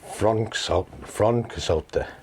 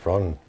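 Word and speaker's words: Froncysyllte: Frontcysyllte. Yeah. Fron. But it's like they said it was like a V sound.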